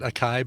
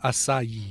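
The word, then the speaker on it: açaí: used to pronounce it acai berries yeah it's a Sai berry acai berries somebody somebody the chat room is going to acai a so it's three syllables acai acai that's dumb and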